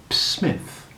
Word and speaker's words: Psmith: decided to adopt the smith p i should add for your guidance is silent as in pisces psychic and tarmigan do you follow me